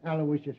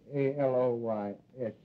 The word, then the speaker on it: Aloysius: Terence Aloysius Hogan. All right, Hogan. You're not a bad guy. I guess you deserve a break. Yeah, spell that middle name right. It's A-L-O-Y-S-I-U-S, Aloysius.